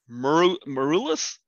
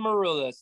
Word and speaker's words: Maroulis: Folks, I give you the awesomely talented Constantine Maroulis. Did I screw that up? No, sounded good. Constantine Maroulis, that's me.